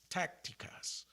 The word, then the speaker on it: tácticas: T with the A, with the accent over the A, the emphasis is on the A.